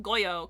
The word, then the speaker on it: Goyo: a very affectionate nickname Don Goyo kind of pronounced like Gojo oh my God I